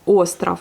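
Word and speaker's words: остров: Mais le V à la fin devient un F, puisqu'il est précédé par la voyelle. Et puis bah, c'est à la fin du mot qui radoucit en fait ce mot et ça devient un F.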